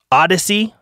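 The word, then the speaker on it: Odysee: i would recommend are bit shoot b-i-t-c-h-u-t rumble odyssey and the odyssey is spelled o-d-y-s-e-e i've also found some other ones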